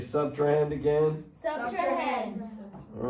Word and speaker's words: subtrahend: it on your sheet, subtrahend, it has three syllables, okay?